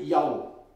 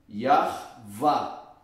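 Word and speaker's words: Yahweh: o hebraico então meteu yau está tudo errado aqui mas vamos continuar Então qual é a pronúncia do tetragrama yar va este este V tem o som de v e o rei assume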